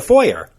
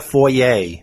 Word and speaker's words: foyer: It's a foyer, Yep. not a foyer. People like to make it fancy. Right.